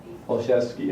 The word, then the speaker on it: Olszewski: Olszewski, okay. But it's still pass, even if I pronounce it right, okay.